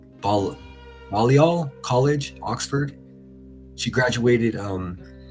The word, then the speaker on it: Balliol: College education, For her university studies, she attended, please excuse me if I mispronounce this, is Balliol. It's Balliol, Balliol College, Oxford.